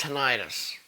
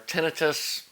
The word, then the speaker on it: tinnitus: But I did notice afterwards I developed tinnitus, or tinnitus, people pronounce it different ways, ringing in my ears out of nowhere.